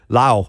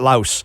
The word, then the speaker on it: Laos: I have a buddy who went to Lau Lao, not Laos.